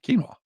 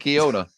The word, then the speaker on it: quinoa: it makes me fart is that how you say it yeah quinoa not or is it Kiona it ain't Kiona it's not no when uh how